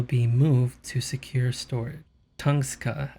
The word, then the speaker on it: Tunguska: Tungska, I think that's how you pronounce it. If not, this is how you pronounce it. Tunguska.